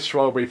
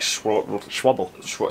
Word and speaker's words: Schwalbe: So they're both Schwalbe Pro 1. Which is not pronounced Schwalbe. How would you pronounce it? Like Schwabble. Something like, it's not Schwalbe.